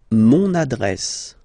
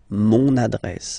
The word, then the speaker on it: mon adresse: Mon adresse, my address, mon adresse, okay? You can hear now this little link, so you've got to pronounce this N.